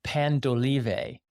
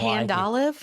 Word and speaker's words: Pan d'Olive: And not far from there, right down on McCausland, is a place called Pan d'Olive. Pan D apostrophe O-L-I-V. Not Pandolive? Not Pandolive. The whole world calls it Pandolive. It's Pan d'Olive.